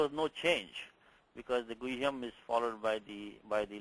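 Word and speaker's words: गुह्यम्: In guhyam, also you have the, also when pronouncing this, you should pronounce the ha. You should say guhyam. Sometimes the ha gets eaten up, becomes guhyam. Not guhyam, but guhyam.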